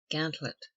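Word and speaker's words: gantlope: with gerline which C Gant lope or G Lop commonly pronounced gantlet a race which a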